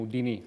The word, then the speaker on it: Houdini: Perché Houdini, noi in italiano lo chiamiamo Houdini, adesso lui sta facendo delle facce buffe perché si dice Houdini, si direbbe Houdini, non Houdini. We Italians call it Houdini, with the accent on the I.